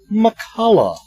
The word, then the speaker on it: McCullough: the show now tonight my guest is Holly McCullough now that I even say your last name